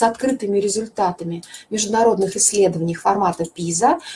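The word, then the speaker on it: PISA: результатами международных исследованиях форматов пиза латинскими буквам пи-эй-эс и а вот так пишется произносится пиза посмотрите пожалуйста эти результаты во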